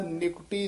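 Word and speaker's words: ਨਿਕਟੀ: निकटी देह निकटी, हां जी निकटी नन्ने दी सहारी है ना, निकटी इस तरह उच्चारण करना।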